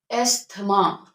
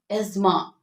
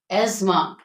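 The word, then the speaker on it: asthma: में इजाफा हो जाए एथमा इट इज not pronoun and एथमा इट इज एजमा एजमा ऑन not often it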